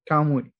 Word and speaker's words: Kamuy: Kamuy.